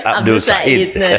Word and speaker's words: Abdul El-Sayed: Abdul Said itu kan cuma cara penulisan kan bacanya Abdul Said itu bisa bagus banget.